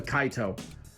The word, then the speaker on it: Kaito: I always pronounce it the Kaito, but it's the Kaito.